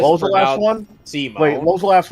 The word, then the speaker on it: Simon: really Before you continue on, know that you mispronounced Simone the Digger. It's Okay. if I was Simon. No, it's Simone.